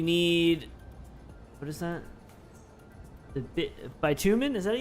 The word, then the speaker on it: bitumen: oil sand you need what is that the by two men is that how you say it how do you say that by two men extractor bitumen yeah bitumen extractor take you get that extractor